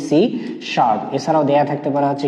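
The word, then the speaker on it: C#: থাকতে পারে সি hash এই হ্যাশ চিহ্নটাকে বলা হয় শার্প এজন্য এর উচ্চারণ হবে কি সি শার্প এছাড়াও দেয়া থাকতে পারে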